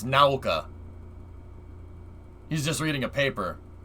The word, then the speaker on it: Nauka: he calls it now now it's called naoka like you pronounce the u like owl naoka that's yeah look i